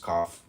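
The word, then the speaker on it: Kaph: Zedek comment on cap k a ph pronounced cough transcribed as K.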